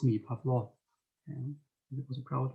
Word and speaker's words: Pavlo: And every time I pronounced it correctly and I said Pavlo, he would chuckle and he would put his